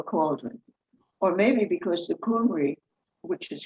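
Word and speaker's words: Cymry: boiling pot or cauldron or maybe because the coomery which is how you pronounce the people of wales cornwall and brittany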